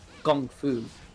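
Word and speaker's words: 功夫: Like when we see Kung Fu, it's because the Chinese pronunciation of that term is like Gong Fu.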